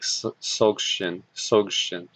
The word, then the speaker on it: Dzogchen: And this is I think I actually pronounce it more of an S, like Dzogchen, is a collection of